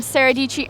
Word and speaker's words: Sara Dietschy: My name, Sara Dietschy, rhymes with Peachy. I am Sara Dietschy everywhere, on the Twitter, on the Snapchat, on the Instagrams.